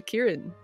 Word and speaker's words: Kirin: So this it's spelled Kirin. Okay. Yes. So it'll get Kieran. Kieran. Kieran.